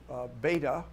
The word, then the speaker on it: Bede: And you could talk about Bede, or some people call him Beta, the Venerable. Bede. Yes. Bede, the English don't pronounce it that way. I would say Bede, but they say Bede because it's complicated. That's the way it sounded in the 7th century or 8th, and the pronunciation changed. The Brits keep the old one.